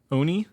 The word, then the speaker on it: Oni: number two comes from Japanese myth I probably mispronounced as the Ani Oni Oni yeah o-n-i is that the one with the